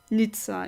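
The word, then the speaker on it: Nizza: a nice it it's literally called nice or n Nitza if you pronounce it in a Italian uh fashion well it used to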